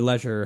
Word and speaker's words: Leisure: a really decent debut in in Leisure um or Leisure however uh we Americans choose to say it wrong um but while it's